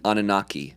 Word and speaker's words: Anunnaki: Anunnaki? Anunnaki.